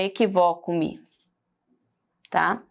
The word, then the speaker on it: equivoco-me: Olha só a diferença dessa palavra aqui, equívoco, para equivoco-me, tá? Se você observar, é apenas o acento que faz com que eu pronuncie de maneira diferente.